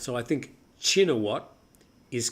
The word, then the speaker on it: Shinawatra: I thought we pronounced it Oh, shinatra. That's how it's spelled. But I hear chinat. I usually say now chinat. Apparently the shh sound is not correct. It should be a ch sound.